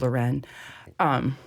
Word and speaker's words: Lauren: You can say Ralph Lauren, and that's fine, but it's pronounced Lauren.